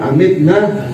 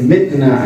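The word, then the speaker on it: أمتنا: dzal jalali wal ikram amitna ala dinil Islam, ya. Di dalam pembacaan tersebut katanya daripada amal Habib Abdullah bin Al-Haddad bacanya tanpa dengan alif amitna, bacanya mitna ala dinil Islam, ya dzal jalali wal ikram mitna ala dinil Islam.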